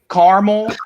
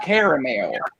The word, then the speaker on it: caramel: pies a peacock well that's like caramel and caramel no it's caramel well let me tell